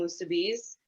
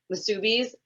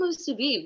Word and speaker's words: musubi: like come by offering musubis, like come try musubi, and they're like, what is that? And then when people say musubis, I'm like, my ears hurt, like say it right.